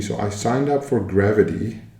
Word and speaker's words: Grvt: Another strategy, so I signed up for Grvt, apparently that's how it's pronounced. I know I butchered it the other day, but I saw it on Twitter. They would like it pronounced as Grvt.